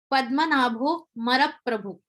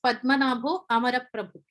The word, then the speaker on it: Padmanabho Amaraprabhu: So Pundanam pronounced the words as Padmanabho Maraprabhu. He did not focus on the a syllable. But technically, as per the rules of grammar, it is Padmanabho Amaraprabhu.